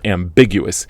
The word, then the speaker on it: ambiguous: And also for the very long words, I'm talking about 4 syllables or more, we usually stress the third to last syllable, which often comes down to the second syllables: ambiguous, deciduous, carnivorous.